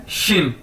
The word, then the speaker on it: xin: नीचे हमारे पास XIN, एक्स को मैंने बताया था पिछली वीडियोस के अंदर भी कि इसको हम शीन से प्रोनाउंस करेंगे, यानी एक्स शीन बोला जाता है चाइनीज के अंदर, तो यानी XIN शीन।